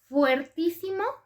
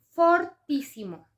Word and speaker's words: fortísimo: Y en cuanto a algunas palabras, fuertísimo está mal escrito y mal dicho. Es un barbarismo, la forma correcta es fortísimo. Y como es una palabra esdrújula, lleva acento en la primera I.